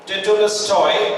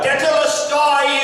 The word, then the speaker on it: tetelestai: Okay, actually the Greek word that Jesus pronounced that time, और जो यूनानी शब्द जो यीशु मसीह ने उस समय कहा tetelestai.